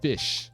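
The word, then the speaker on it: Ghoti: pronunciation is it's called goatee this isn't actually pronounced goatee though this is this is fish this is fish this is how you pronounce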